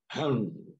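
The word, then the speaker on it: חן: the chicken agn but it's pronounced han in the hebrew and it means graciousness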